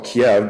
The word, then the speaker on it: Kiev: identify the region around what we used to call Kiev because that's the Russian pronunciation and key because that's